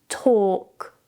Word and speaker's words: talk: When you have the combination of A and L together, the L is usually silent. For example, calm, half, talk, walk.